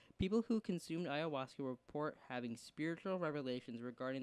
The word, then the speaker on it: ayahuasca: Oh, it says ayahuasca. Ayahuasca. That's what it is. That's how it. Oh wow. Okay, let me repeat. This is how it's pronounced ayahuasca, and it's spelled Ayahhuask.